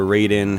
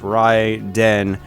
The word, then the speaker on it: Raiden: that's right in or Raiden however you like to pronounce it for the Atari jaguar in Japan it's technically pronounced Ry Den they're actually two separate words apparently it stands for